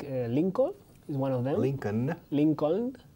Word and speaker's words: Lincoln: Lincoln. Mira, la L al final es muda. Abraham Lincoln.